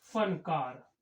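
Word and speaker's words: फ़नकार: ऐसे ही ये शब्द आया हमारा, वर्ण आया फा, इसका उच्चारण है फा। जैसे हम लिखते हैं फनकार, तो यहां पर इस फा का प्रयोग इस प्रकार हुआ, फनकार।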